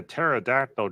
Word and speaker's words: pterodactyl: can't you hear a pterodactyl going to the bathroom why because the p is silent the you know the